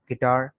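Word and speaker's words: guitar: Rule number 6 में कह रहे हैं कि यू जो है ये साइलेंट है। यू is silent in the following words. दरअसल अल्फाज में यू साइलेंट है। गार्ड, बिस्किट, बिल्ड, गेस्ट, टंग, गिल्ट, गिटार, गैस।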